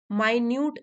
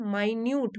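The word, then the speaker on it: minute: यह superlative degree है यही वाली स्पेलिंग जो होती है एम आई एन यू टी ई मिनट की भी यही स्पेलिंग होती है मिनट जैसे कि घड़ी का जो मिनट वाली सुई होती है वो मिनट लेकिन यहां पर तो है माइन्यूट मतलब छोटी से छोटी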